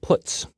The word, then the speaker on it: puts: They are pronounced: printf, putcar, and puts.